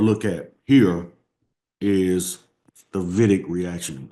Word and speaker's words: Wittig: at here is the Wittig reaction. I know it's spelled with a W, but it's a German word, so you pronounce it with a V. So Wittig, right?